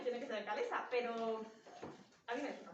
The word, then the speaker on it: Ekalessa: Y para nosotras siempre es Ecalesa. O sea, claro, lo hemos inventado nosotras, yo la pronuncio como quiero. Pero, ahí está el pez de roca. Pero todo el mundo cuando habla de la historia dice Ecalesa. Y claro, a mí me suena tan raro que me parece que